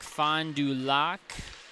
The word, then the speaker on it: Fond du Lac: Some Oshkosh, some Appleton, Tomahawk, Fond du Lac. Might be Lake, but it's spelled L-A-C.